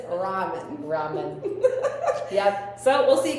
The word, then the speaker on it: ramen: Ramen. Ramen. I always said Raymond Noodles and it's really ramen noodles.